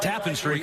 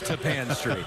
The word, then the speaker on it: Tapan Street: It's not Tappan Street, it is Tapan Street.